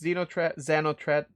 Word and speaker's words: Xenothreat: But stage 3, to make it simple, stage 1 was just Xenotrat. Actually, that's how they say it.